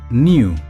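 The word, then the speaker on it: knew: Igual que vimos con Niss, la letra K al principio es silencioso. La palabra se pronuncia simplemente new, sonando exactamente igual que la palabra new, nuevo.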